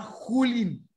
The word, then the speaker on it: Julín: nuestro robot se llama Julín. Ah, Julín. Porque la pronunciación de la J en Chile es diferente a la parte más central de América, ¿ya?